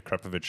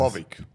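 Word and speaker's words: Akrapovič: Both, well, actually the Yaris is mostly stock except for Venturi air intake and the Akrapovic exhaust. Those are such good cars to start with. Akrapovic.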